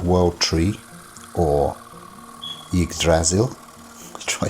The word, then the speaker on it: Yggdrasil: to be said and most would say yig as in pig the p missing and then sil so it's silk with the